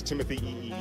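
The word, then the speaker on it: Timothée: you say his name there's actually several E's so it's Timothy and he just got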